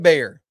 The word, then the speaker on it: Gbayor: Number 3 player that stood out, linebacker, Mekhi Bayer. It's spelled Gbayor if you're looking for him in your roster or whatever it is.